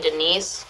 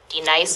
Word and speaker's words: D-Nice: Do you mean Denise? Son of a bitch! You say your name right, right now. Denise? Say it right. Denise. Correctly. Denise. Right. Denise. Right. D-Nice. That's better.